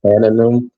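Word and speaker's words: תנינים: God created a creature uh tanum. T a n i n i m. Am I saying it right?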